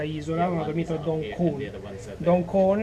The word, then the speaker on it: Don Khong: Approfitto per fare una piccola correzione a quanto ho detto, ho pronunciato male il nome. La notte scorsa non ho dormito a Dong Khon, Don tra parentesi significa isola, ma ho dormito a Dong Khon.